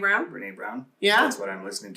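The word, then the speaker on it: Brené Brown: right now how do you say her name Brene brown yeah her name Ram Brene brown yeah that's what I'm listening to right now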